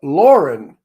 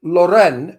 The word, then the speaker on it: Loren: that's like Sophia Loren it's not her name it's Sophia Lauren but everybody makes it Loren which it's not and Sophia gets annoyed